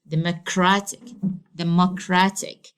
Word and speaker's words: democratic: This is the penultimate syllable. Okay, so democratic. Okay, so I have to say it like this.